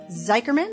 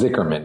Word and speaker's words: Zichermann: Today, I am so excited to introduce you to Gabe Zicherman. Am I pronouncing that correct? Close. It's Zichermann.